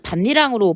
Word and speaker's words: 밭이랑: 그래서 여기 전자는 밭이랑으로 발음해야 되지만 후자는 반니랑으로 발음해야 되는 게 이 반니랑을 완벽하게 하려면 니은 첨가의 조건을 이해해야 됩니다.